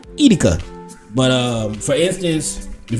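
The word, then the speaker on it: Edeka: People say Etica, but it's really Etica. Drop it in the comments if I said it right. Etica.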